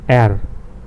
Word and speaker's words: R: So R is air, like we saw when we make the motion for anger, og, it's air. See, air.